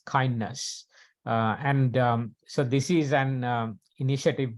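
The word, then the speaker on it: KINDNS: And but usually this is pronounced as kindness.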